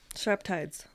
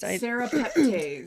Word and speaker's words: serrapeptase: Surreptides. Surreptides? Did I say it properly? Surreptase? Yeah. This is another thing to add to help kill the yeast. Serrapeptase.